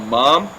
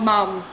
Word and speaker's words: mum: What about mom? Oh, mum. Yes. I know, not a huge difference, but yeah, mum, emphasis on the U.